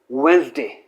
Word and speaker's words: Wednesday: तो क्या है, this is taken out, this is pushed out of this word for pronunciation and this is pronounced as Wednesday, Wednesday not Wednesday।